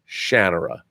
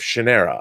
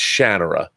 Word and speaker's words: Shannara: his house in Seattle and he said it's pronounced Shannara I called it the Sword of Shannara I was always saying Shannara its Shannara that's from Terry Brooks himself just to be